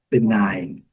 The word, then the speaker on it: benign: Então é benign. Aqui, a pronúncia é diferente do I, mas no final, o G, que interessa é que o G não é pronunciado.